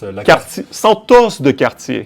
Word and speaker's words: la Santos de Cartier: If you want to say it properly, it's la Santos de Cartier.